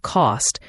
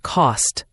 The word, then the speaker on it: cost: And the T at the end of cost can also be very light or glottle, meaning your throat stops the air rather than your tongue touching the roof of your mouth. So it's not cost but cost.